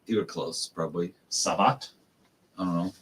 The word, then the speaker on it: Satvat: Let me see. Amir Satvat. Satvat. That's how you say it in Oklahoma.